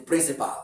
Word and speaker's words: principal: Any word that ends with the word AL, the letters A rather, and preceded by a consonant letter, not a vowel letter. This letter becomes silent. You don't pronounce it. You don't pronounce it. Just like in such word, we call this in principal, the principal of the school. No, it is a wrong pronunciation.